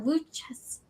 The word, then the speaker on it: Worcester: Worcester?